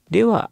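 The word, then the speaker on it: では: Perlu diperhatikan bahwa dewa di sini ditulis sebagai DH. Seperti partikel wa, cara bacanya berubah dari H menjadi wa ya.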